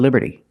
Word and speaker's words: liberty: This is the Statue of Liberty. And we see the T in liberty is between vowels, so it's pronounced like a fast D. Liberty. Liberty. Not liberty, but liberty.